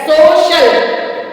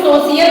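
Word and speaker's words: social: उच्चारण श होता है जैसे एस ओ सी आई ए एल सोशल इसको हम सोशियल नहीं पढ़ते सोशल फिर है एस पी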